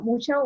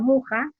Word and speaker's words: Mucha: Bueno, mucha o muja, en realidad se pronuncia muja, nos ha dejado de esa mujer flor todas estas imágenes y afiches.